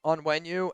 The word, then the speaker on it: Onwenu: Mike onenu. Is that how you pronounce it? Uh Mike onenu. Onwenu.